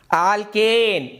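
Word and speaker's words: alkene: ಆಲ್ಕೇನ್ Ambe, ಆಲ್ಕೀನ್ Ambika, ಆಲ್ಕೈನ್ Ambalika ಅಂತ ನೆನಪು, ನಮ್ಮ ನೆನಪಿಗೋಸ್ಕರ ಹೇಳ್ತಾ ಇರ್ತಕ್ಕಂಥ ಒಂದು ಪದಗಳಿವಷ್ಟೇ.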